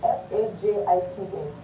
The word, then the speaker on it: fajita: So fajita is spelled F-A-J-I-T-A. But we say fajita.